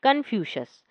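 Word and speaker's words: कन्फ्यूशियस: Confuse. इसे आप अच्छे से पढ़ेंगे तो आपका उच्चारण भी अच्छा होगा। नाम क्या है चीनी दार्शनिक का? कंफ्यूशस।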